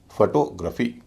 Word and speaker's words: photography: पहले ओ का उच्चारण हल्का, दूसरे का भारी, फिर हल्का, फिर भारी। फोटोग्राफी, न कि फोटोग्राफी। और जितने भी शब्द हैं जिनके अंत में GRAPHY है उन सब में भी GRAPHY का उच्चारण ग्रफी ही होगा।